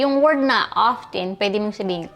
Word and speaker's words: often: Often often. Often. Wang t. Okay. Correct pronunciation.